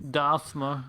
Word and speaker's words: Dasmer: Well, there's no TH, so it's not Dathmer. But it's like Old English, so it could just be. Dasmer.